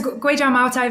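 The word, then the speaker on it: Kweichow Moutai: Yeah, so Guizhou Maotai, very good pronunciation.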